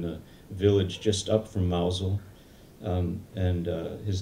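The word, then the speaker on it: Mousehole: in mouse mouse hole spelled mouse holes pronounced mousel in cornwall the southwest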